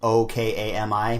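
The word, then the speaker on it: 大神: So like, I think it's Ookami means wolf, and then Okami means God.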